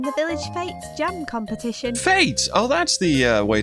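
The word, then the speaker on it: fête: a tradition I mean it's originally a French word um but it's been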